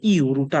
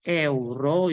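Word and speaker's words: euro: এতে কি এই যে ইউরোটা আছে অনেকে বলে এটাকে ইউরো বলে কিন্তু এটা আসল উচ্চারণ হবে এ যদি যেহেতু এটার উচ্চারণ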